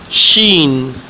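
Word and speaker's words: شین: So it's sheen. Before the word seen, now sheen, it's sheen. How to pronounce this word? Sheen, sheen, sheen. There are 3 points. Remember this thing.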